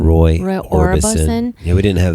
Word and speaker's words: Orbison: Roy Orbison.